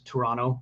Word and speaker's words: Toronto: not very good yeah they also don't know how to pronounce toronto correctly it's toronto there's only one tea uh anyway i can't